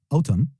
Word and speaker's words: autumn: Autumn, autumn, autumn, ou fall, qui diffère de l'américain au britannique, sans prononcer le N à la fin de autumn.